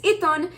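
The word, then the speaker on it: עיתון: and the way that you say it is iton, and the way that you spell it is ein, yod, tav, vav, nun sofit.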